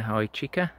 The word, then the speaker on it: Hychika: do i've been sent this product by uh hi chica that's how you pronounce it uh to do a review they